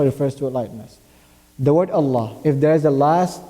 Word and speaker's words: Allah: Fatah or Obama then the word Allah will be pronounced in a heavy manner an example would be